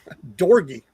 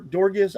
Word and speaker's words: Dorgi: And it's Dorgi. It's like it's just put a D on the front instead of a C. Dor Dorgis.